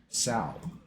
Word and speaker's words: SoW: I say Spirit of Wolf rhymes with World of Warcraft. You know what I mean? WoW rhymes with Sow. Right? That's and I've been calling it Sow since before World of